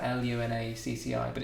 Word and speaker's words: Lunacci: uh it's it's spelled really weird it's like l u n a CCI but it's pronounced Lun but some people pronounce it l lunari or lunaki or but it's Lun not us we say